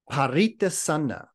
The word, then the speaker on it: paritassanā: And then the other word that we're talking about tonight is this pari, let me get the correct pronunciation, paritassanā.